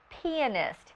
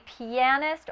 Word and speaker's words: pianist: Sometimes you'll hear this term pronounced pianist. It can be pianist or pianist. Both are correct.